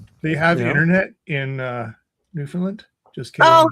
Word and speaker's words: Newfoundland: They have internet in uh Newfoundland. Just kidding. Oh, it's pronounced Newfanland, Adam.